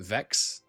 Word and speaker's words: Wex: I should call it Vex. Maybe. Maybe I'm going to choose that. This is pronounced V in the in the German style.